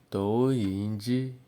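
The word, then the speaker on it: 投影仪: Tou yin ji. Tou yin ji.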